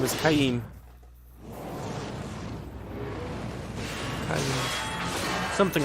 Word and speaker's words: Kaim: I think they pronounce it Kaim, the voice actors do.